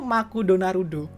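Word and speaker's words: マクドナルド: itu adalah gunanya itu makudonarudo apa kamu nggak salah itu McD Jepang bahasa di terbacanya tuh makudonarudo Uh Ezra nya tuh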